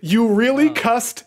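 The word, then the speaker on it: Eurylochus: the comment I got you really cussed Urus that's how I remember it and I've never forgotten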